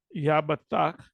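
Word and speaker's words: יפתח: Then Yabathak, that's how you say it in Hebrew, he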